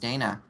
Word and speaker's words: Dana: sometimes unicorn hi yes also my name is pronounced Dana this has been going on the entire time